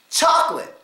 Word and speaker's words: chocolate: the word chocolate chocolate now a syllable in here that's not really stress is co c o so how do we say it cholate chocolate that's how we actually say it because that syllable in the middle is not stressed much at all we give it the schw we just schw and say chocolate easy so let's get